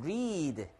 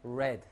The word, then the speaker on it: read: 발음이 달라, 근데. 현재형은 read. 과거형은 read. read, read, read, read, read. 하지만 똑같습니다, 스펠링은.